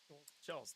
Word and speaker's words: Schultz: Schultz, no T. There's no T.